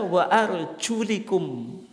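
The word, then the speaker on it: وَأَرْجُلِكُمْ: Membacanya itu bukan wa arjulakum, lakum wa arjulakum. Lamnya itu difathahkan, bi fathil lam. Tidak sebagaimana umum yang ada dalam mushaf kita, tapi dibaca wa arjulikum.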